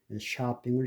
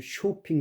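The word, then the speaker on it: shopping: 갓 핫라 팟 탑 바디 바 이런 식으로가 아로브라된 경우인데 한국 사람들은 샤핑을 쇼핑 그러거든요. 그 미국에서 쇼핑 그러면 미국 사람들은 알아듣지 못합니다. 이게 샤핑 또 여기에 예외가 있습니다.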